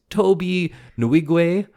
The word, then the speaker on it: Tobe Nwigwe: him all day long his name is Toby nigu which is spelled n WWE and uh check them